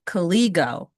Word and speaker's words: KGO: Uh I've I believe that I'm saying it right now after a couple of years. It's not Kooligo, it's Kiggo.